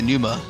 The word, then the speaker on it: Numa: Is it pronounced numa, by the way? Yeah, it is. Thank you. It's just directly taken from the Latin word for breath or wind or whatever.